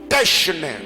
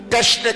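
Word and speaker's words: technē: Le mot art du grec techne, techne qui s'écrit comme T-E-C-H-N-E.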